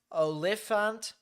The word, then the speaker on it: Oliphant: This is heading off into areas of Pleasant Plains, Oliphant, there you go. That's how you pronounce it.